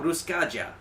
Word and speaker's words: Ruskaja: actual band look up ruskaja i say it with a j because if i said it in the regular way you'd put a y in and that's not actually how it's pronounced and all that so